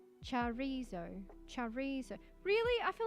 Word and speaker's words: chorizo: Chorizo. It's like the end it has like ZOW to say it. Chorizo.